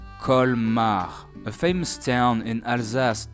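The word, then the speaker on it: Colmar: First, we have the letter C, which is supposed to be pronounced as C. That's our first sound, C. Then the vowel O co then L again followed by M col. And last a and r a a kar.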